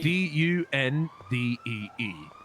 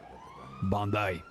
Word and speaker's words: Dundee: D-U-N-D-E-E. Dundee. It's Dundee. Bondi. Yeah. Bondi. Okay, listen. J is silent.